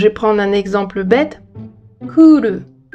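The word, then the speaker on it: クール: Kuru. Ça s'écrit ku avec un non-longement et le. Ça veut dire cool. Kuru et cool, on est d'accord que ça sonne pas pareil du tout.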